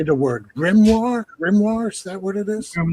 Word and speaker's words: grimoire: Grimmoire. Is that what it is? Grimmoire.